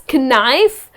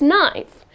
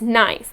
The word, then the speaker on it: knife: The correct pronunciation is knife. And I kept wondering, why is that? That’s English. So again letter K here is silent and the correct pronunciation of this word is knife and not kanife.